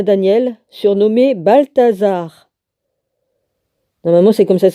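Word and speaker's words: Baltassar: En l'an 3 de Cyrus, roi de Perse, une parole fut révélée à Daniel, surnommé Balthazar. Normalement, c'est comme ça que ça se prononce.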